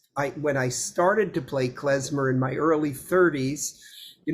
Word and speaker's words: klezmer: David, I have the sense that, and excuse my pronunciation, klezmer music, the traditional style, is that pronounced correctly? Klezmer?